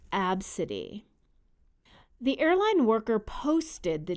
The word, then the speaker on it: Abcde: The name was spelled Abcde and pronounced Abcde.